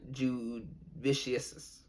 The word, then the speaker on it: Jasudavicius: sound bite for how to say this jasmine jude vicious jasmine jude vicious all right there you go